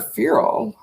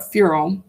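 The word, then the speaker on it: ferrule: applications st connector okay and this word feral wow i just want to look this word up furo f-e-r-r-u-l-e i'm not sure if i'm pronouncing it right and i just want to see what this is a ring or cap typically a metal one which strengthens the end of a handle stick or tube and prevents it from splitting or wearing okay very interesting um cheryl cheryl cyril okay i was mispronouncing its feral anyway how interesting that's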